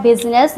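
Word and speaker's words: business: Fruit fruit में आई silent होता है। बिनेस बिनेस में भी आई साइलेंट होता है।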